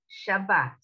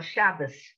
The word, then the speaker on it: Shabbat: Shabbat or Shabbos. Shabbos is the Yiddish, but this is when this is an S sound.